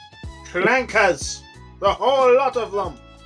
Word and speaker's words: Frieza: No, that's Frieza, and it's pronounced Frieza.